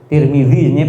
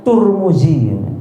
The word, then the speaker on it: Tirmidzi: riwayat Tirmidzi kan gitu L tirmidziya pakai Dal ya sebenarnya Tapi Indonesia Kadung pakai Z nanti ada juga yang bacanya turmuzi Pak turmuzi saya juga